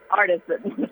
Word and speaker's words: Artisan: word I'm sorry but it's French and it's Artisan they might say that in France but when you're in a murder in America it's Artesian s tell you how to say it in in France and in England and all over the world is Artisan do you know what